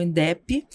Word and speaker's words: Indep: Então, nós estamos no Instagram, nossa única rede hoje, no @Indep, o D é mudo, tá? Então, Indep, de independência, né?